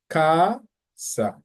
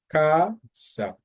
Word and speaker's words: casa: The same thing applies for casa. So that's why you go high and then you come down on the second part. So you say casa, casa, mesa, mesa, because that's where the emphasis goes.